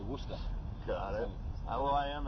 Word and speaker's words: Worcester: Oh, Worcester. Okay. Worcester. That's beside the point. Anyways, that's actually Worcester. Is it? Yeah, Worcester. Yeah, you don't say Worcester. No. You say Worcester.